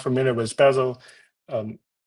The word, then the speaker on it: Bazel: you're not familiar with Basel um some people call the basil it's up to you how to pronounce it so it's a actually